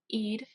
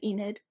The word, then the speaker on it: Eid: celebration of Ramadan and Eid which I said Enid it's Eid I learned how to pronounce it I actually didn't listen to this